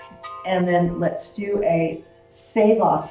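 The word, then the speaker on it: Savasana: then let's do a saveos and it's the proper way to pronounce so we've been pronouncing it shavasana but it's which isn't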